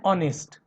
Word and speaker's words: honest: And honest. Here also H is silent.